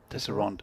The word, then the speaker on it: Tesserand: Tesserand. No, but look, it's he's actually spelled it. Mine has 3 syllables.